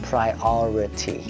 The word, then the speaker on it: priority: Trọng âm rơi vào âm trước hay âm sau của dấu phẩy? Âm trước dấu phẩy. Âm sau. Âm bên phải của dấu phẩy. Chính vì vậy cái từ này sẽ phát âm đó là priority.